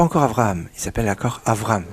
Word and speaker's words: Avraham: Abraham il s'appelle l'accord Avraham faire attention à bien prononcer comme il faut pendant la plus grande